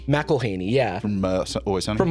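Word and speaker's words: McElhenney: McElhaney, yeah.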